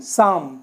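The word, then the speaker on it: psalm: आता है ये देखिए एम से पहले अगर ल ए रहा है तो लब साइलेंट होता है तो इसमें ये लव क्या हो गया साइलेंट हो गया बच्चा एस ए एम सम लेकिन स्पेलिंग पुरी लिखी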